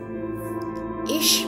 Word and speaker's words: ich: amongst friends this is ich bin sorrow ich means then means this is my name so in English this is pronounced as H in German it's pronounced as